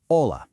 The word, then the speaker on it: hola: Hola. Hola. Hola. Hola. Okay, notice our very first rule of Spanish pronunciation right there. The H in hola is completely silent. You literally just pronounce the O.